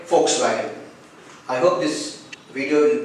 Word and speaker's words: Volkswagen: As it's a German word, the letter V should be pronounced as F and letter W should be pronounced as V here, like Volkswagen, which means a people's car here.